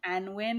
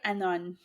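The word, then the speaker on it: Annwn: Welsh otherw world and I said like anwin or something like this which is freaking inconnect incorrect completely it's more like Anon oh well just the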